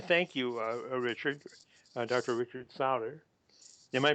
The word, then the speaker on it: Sauder: Richard sauder am i pronouncing your name correctly yes sir you know